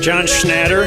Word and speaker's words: John Schnatter: John Schnatter.